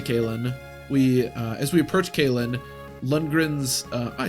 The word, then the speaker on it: Lundgren: As we approach Kalen, Lundgren's, I said it right that time, obstacles will be more difficult to overcome.